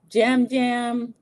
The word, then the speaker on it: Yam Yam: Jam Jam. It's spelled Yam Yam like yams, but it's they call him Jam Jam.